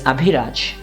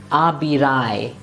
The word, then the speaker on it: Abhiraj: My name is Abhiraj. If I write my name the way I write it, and that's the way I write it, most Germans pronounce it as Abirai. Now if I want to tell them, no, it's not Abirai, but Abhiraj, that's what I need to write it. It looks odd, I know what to do, but write it this way just to tell them that the pronunciation is Abhiraj.